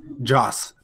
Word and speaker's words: Joss: who did it that's disappointing it Oh so Josh exactly josh Josh Whedon wrote it that's what